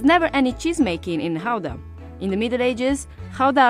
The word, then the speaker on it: Gouda: this one behind me depending on whether you're a native you will pronounce it either GDA or Howa so since we're talking about authentic Dutch cheese we're going to call it Howa the cheese takes its